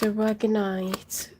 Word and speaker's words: aragonite: It was aragonite, sapphire.